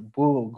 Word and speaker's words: Bug: spelled bug in english it spelled bug in polish but but i knew that it was pronounced the boog which which felt like